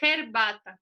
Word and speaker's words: herbata: É como se fosse um R.